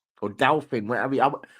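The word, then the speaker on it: Dauphin: however you pronounce it if it's French it's Doan Doan yeah Doan well let's see it is indeed the Doan I don't know how Americans would butcher it but Doan that's how we pronounce it as well least that's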